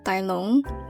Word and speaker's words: Tai Lung: I'm pretty sure Tai Lung is a Cantonese name pronounced Tai Long.